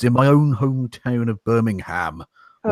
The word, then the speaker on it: Birmingham: is taking place in my own hometown of Birmingham, or Birmingham as it's properly pronounced.